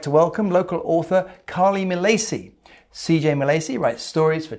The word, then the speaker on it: Milacci: Milacci. Yes. Is that Italian? Yes, it is Italian, but we do not pronounce it in the Italian way, obviously. Which would be Milacci. Milacci, yeah. Right, but it's Milacci.